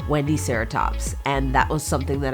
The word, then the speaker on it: Wendiceratops: But Google says that you say it like this, Wendiceratops, and that was something that I learned.